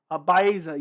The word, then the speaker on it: Baeza: My favorite fight of the year was Santiago Baiza. Round of the year for me was Woodley Luque round 1. That was great. Yuri Reyes round 2 was another great fight. Baeza, yeah, that's how you pronounce it.